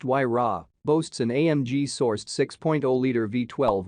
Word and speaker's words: Huayra: Named after the Incan god of winds, the Huayra, pronounced Huayra, boasts an AMG-sourced 6.0-liter V12 with 2 turbochargers, resulting in 620 horsepower and a massive 740 pounds-foot.